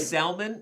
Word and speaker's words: salmon: is that wearing bright salmon is that a salmon color that's what is i don't think you're supposed to pronounce the l in that word but i i just